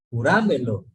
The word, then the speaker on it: júramelo: Júramelo. No, pues. Juramelo. No, o sea, sí, o sea, queda la palabra pronunciándola, pero digo, ¿por qué? Porque Con la fuerza de voz. porque es sobre esdrújula, ¿sí?